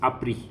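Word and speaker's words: appris: so the past participle it's apri okay apri app ris okay same way like compromise okay so this is apri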